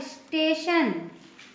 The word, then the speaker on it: station: और एग्जाम्पल देख लेते हैं, जैसे STATION, इसमें देखिए टी के बाद IO आया हुआ है, इसका प्रोनाउंसिएशन क्या होगा? स्टेशन।